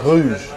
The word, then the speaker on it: Rouge: They don't pronounce the R, they say Rouge.